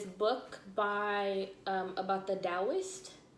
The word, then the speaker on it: Taoist: by um about the taoist it's spelled taoist with a t t a o i s t but they say it's pronounced with the d um i forgot who